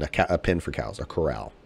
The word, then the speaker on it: Corral: matt coral carl corral i believe it's i think it's corral well it's spelled like corral yeah two r's yeah i think i've heard